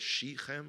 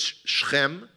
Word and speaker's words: Shechem: I know, easier for me to pronounce than you, I know. Apologies. I think most people call it Shechem or whatever, but it's Shechem, today called Nablus.